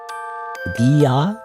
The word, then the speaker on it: Dear: I think or Katakana Dia it's just Dia in Japanese it's a Japanese pronunciation oops I keep out